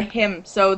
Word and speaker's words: hymns: sacred song or a hymn so the songs that you play at church hymns yes there's another silent letter you don't pronounce the n in hymns So Silent in but um that's what